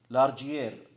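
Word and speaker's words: Largier: حياكم الله وبياكم في قسم علوم البحار للمحاضرة الشيقة بإذن الله سبحانه وتعالى مع الدكتور الزائر لقسم علوم البحار الدكتور جون لارجيير. Did I pronounce it correctly, Doctor?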